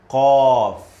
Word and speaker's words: قاف: قاف قاف. By the way, this letter is heavy, strong.